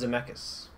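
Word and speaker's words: Zemeckis: 2 directed by Robert zus starring Christopher Lloyd and Michael J fox I think it's pronounced zamus okay yeah zamus yeah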